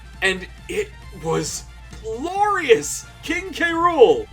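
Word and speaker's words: K. Rool: it was glorious king k rool or carol as you pronounce it for those who grew up with the weird saturday morning cartoon oh my god s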